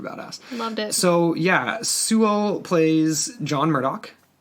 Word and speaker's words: Sewell: His name's Rufus, how do you pronounce his last name? Sewell. Sewell.